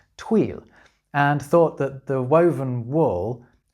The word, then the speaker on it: tweel: But the story goes that the ignorant English misunderstood the local pronunciation of twill, which in Scots was tweel, and thought the woven wool had been named after the Scottish river, the Tweed.